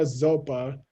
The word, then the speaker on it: Zopa: send it you see it's a low tone s okay don't think it's a z okay poor llama zopa is called zopa for